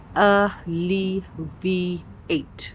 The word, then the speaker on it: alleviate: एलिविएट का pronunciation होता है अलिविएट।